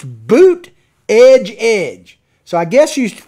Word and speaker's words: Buttigieg: tall letters in South Bend, Indiana, and it's Boot Edge Edge. So I guess you should pronounce his name Boot Edge Edge. Boot Edge Edge. I'm just going to call him Buttigieg.